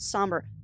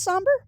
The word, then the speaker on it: Sombre: Pronounced somber. Oh, it is pronounced somber. So the E is silent.